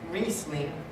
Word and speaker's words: Riesling: Like in Germany, where the Riesling grape, who likes Riesling? Yeah, of course it's Riesling without the Z, but nobody cares unless you're a snob.